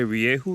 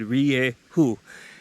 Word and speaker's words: Rieju: do a review on the mr 200 from riehu now did i say riye who yeah i said riye who and that's how you pronounce the name of this bike this bike